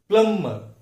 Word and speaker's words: plumber: प्लम्बर बोल के हम रोज के इंग्लिश में यूज करते हैं, लेकिन यहां पे ब साउंड साइलेंट है। इसका करेक्ट उच्चार है प्लम्बर, नॉट प्लम्बर बट इट इज प्लम्बर।